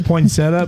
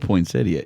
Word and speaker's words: poinsettia: Um, so when somebody says poinsettia instead what the goat when someone says poinsetta but then they put the pronunciation behind it poinsettia. Yeah. It's spelled poinsettia. It's quoted poinsettia.